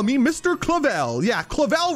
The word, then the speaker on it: Clavel: me Mr clavel yeah clavel rhymes with evil Cleveland this has